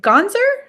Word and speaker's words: Gonsar: Gonsar? Perfect. That's Oh, right. One for total one. guess. Total guess. All right, Gonsar, who is the writer for the upcoming graphic novel Dracula's Brunch Club.